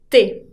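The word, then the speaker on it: tes: Et pour le pluriel, on dit te. Te se pronuncia igual que me, sin la S final.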